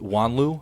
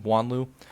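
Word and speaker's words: Juanlu: I'll go with Antonio Silva, and I'll go with Wanlu. I believe that's how you say his name, Wanlu.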